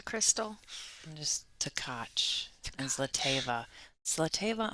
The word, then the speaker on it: Zlateva: And just Tkach and Zlateva. Zlateva, I have to think before I say it because I used to say it wrong. How did you used to say it? Zlateva instead of Zlateva.